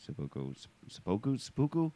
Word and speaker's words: seppuku: less, the way that they talk about the seppuku.